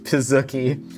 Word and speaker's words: pizookie: Rebecca, for the final course of your final meal on this earth, we have the giant pizookie. Yes, it is pronounced pizookie.